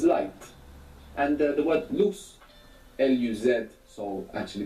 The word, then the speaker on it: luz: And the word luz, L-U-Z, so actually this Z would be pronounced th in most of Spain, luz.